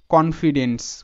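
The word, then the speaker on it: confidence: তো এটার যে সঠিক প্রোনাউন্সিয়েশন সেটা হবে কি কনফিডেন্স, কনফিডেন্স। তো এখানে কিন্তু আই এর শর্ট সাউন্ড হয়ে গেল, ঠিক আছে, এটাও কিন্তু এক্সেপশন। তো এইভাবে জাস্ট তোমরা প্র্যাকটিস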